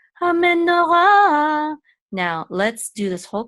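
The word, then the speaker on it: המנורה: This hay will be silent. Ra, ha me, no, ra. The menorah, that's what it means, the menorah. The ha means the menorah. Ha menorah.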